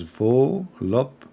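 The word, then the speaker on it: voluptuous: It's pronounced as volupcious. Ah, volupcious. That's it? Volupcious? Are you sure? Volup. So the T is not there?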